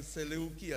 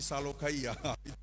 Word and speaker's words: Seleukia: perempuan selalu Maha ejaannya Bukan seleukia tapi salukaia kampungnya Bapa Indah itu